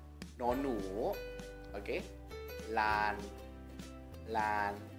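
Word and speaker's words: ล้าน: Lan. Lan. Tapi dikasih tanda baca Maito. Jadinya siang apa? Siang tri. Karena apa? Loling ini adalah aksara kelas rendah. Saat dikasih Maito, maka nadanya akan siang tri.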